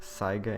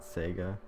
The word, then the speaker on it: Saiga: the first uh episode it is actually pronounced Saiga Antelope and not Sega um that was my